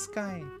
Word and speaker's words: wSkye: My name is Skye. The W is silent.